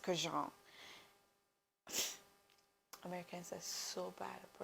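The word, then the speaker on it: Kurkdjian: It's not Francis Kirk de Jean. It's Francis Jean.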